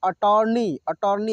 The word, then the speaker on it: अटॉर्नी: urban जर्जर थरथर अटॉर्नी अटॉर्नी यहां पर जो है यहां पर आकर है ठीक है अर्धचंद्र है इसको हम अर्धचंद्र बोलते हैं इसका उच्चारण ओ के रूप में होता है अटॉर्नी ऐसे बोलेंगे हम लोग ठीक है ना